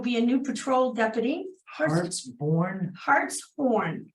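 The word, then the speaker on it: Hartshorn: Lincoln she will be a new Patrol deputy Hearts horn h a r t s h o r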